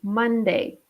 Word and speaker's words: Monday: be careful with the pronunciation that o is pronounced a month Monday okay the second day what is it after